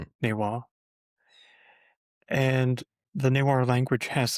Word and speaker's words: Newar: And due to vowel and consonant shifts, the pronunciation of the Sanskrit nepala shifted to neada, which in modern nir is pronounced naywa, naywa.